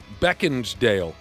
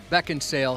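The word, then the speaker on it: Beckinsale: the name of Kate Beckansdale? Uh that's not how you pronounce it. But I I can tell you this. Oh, that's not how you pronounce it. There's no D. Beckensale.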